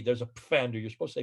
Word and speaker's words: Pfander: It's like Pfander. Pfander, the name that I call my YouTube site, named after Dr. Karl Pfander. Yeah. It's a German spelling, but there is a P. There's a Pfander.